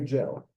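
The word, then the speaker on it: ג'ל: We say gel, just like in English.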